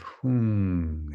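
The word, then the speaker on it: hūṃ: And at the heart, the seed syllable of hung, H-U-M or H-U-N-G, hung, a blue, radiant, hung syllable, jewel syllable.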